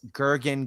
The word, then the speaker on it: Gergen: Right now, if folks are wanting to see your page, it, as I said, it is Gurgen Gaming. Now, let me tell people how to spell that if you're listening to the audio show.